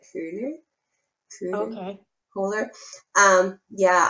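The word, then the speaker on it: Köhler: you haven't there's probably kohler and i know i don't say his name right i have a german friend of mine said it's something that cooler true okay cooler um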